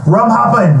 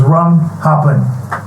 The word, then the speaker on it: Rum Happen: Rum Happen, not happened, because some people search for the song. I spell it HAPPENED. Nah. And it didn't come up. So it's Rum Happen.